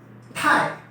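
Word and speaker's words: 太: आज का हमारा तीसरा वर्ड हो गया जिसकी प्रोनाउंसिएशन है थाई थाई, और जिसके मायने हैं आप कह सकते हैं कि एक्सेसिव के, टू मच के, राइट।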